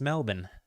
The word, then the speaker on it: Melbourne: which is how you you say that not Melbourne like uh most Americans it's Melbourne um one of the few words that sounds like it has an Australian accent baked into it if you say it properly so that's fun um